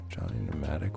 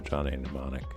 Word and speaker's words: Johnny Mnemonic: was the name of it Johnny modest probably pronouncing it wrong wrong yeah pneumatic Johnny pneumatic was that it mnemonic there you go Johnny Mnemonic and it was like a cyberpunk film with